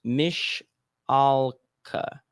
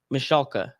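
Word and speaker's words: Michalka: aka allison michaela and it says it's pronounced mish alka oh so i said that wrong so hold on let me do that again ali mashalka how old is she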